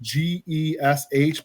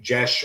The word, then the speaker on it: geas: It's pronounced Gesh, but spelled Geas. I've taken to just pronouncing it Gace, because otherwise, if I say Jesh or Gesh, however people want to say it, it's fair.